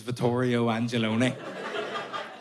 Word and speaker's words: Vittorio Angelone: because like we discussed, my name is Vittorio Angelone. And that's not how you're supposed to say that. It shouldn't be in a Belfast accent. There's no one in Naples going, Vittorio Angelone.